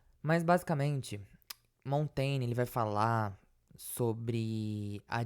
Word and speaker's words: Montaigne: Acho que o certo de se pronunciar é Montaigne. Então vamos falar dessa forma, porque foi a forma que eu consegui encontrar uma pessoa pronunciando aqui, procurando no YouTube.